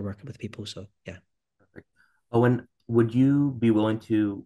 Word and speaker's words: Eoghan: So it's just my name, Owen. It's the complicated spelling, so I'll spell it for you.